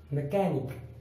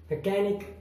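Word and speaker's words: mechanic: अब chemistry, technology, school, scheme, stomach, मैकेनिक, अब इन सभी में सी के बाद एच आया है, इसलिए वहां पर एच साइलेंट है। School, school मीन्स school, scheme मीन्स योजना, स्टमक पेट, मैकेनिक मिस्त्री, टेक्नोलॉजी तकनीक या तकनीकी, और केमिस्ट्री रसायन विज्ञान।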